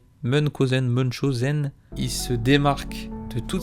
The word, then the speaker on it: Munchausen: Mais je crois que ça se prononce Munchausen.